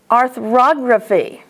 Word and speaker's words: arthrography: The accent is on og. Arthrography. That one is easier if you would say arthrography, but you don't say biography, do you? You say biography. You say photography, right?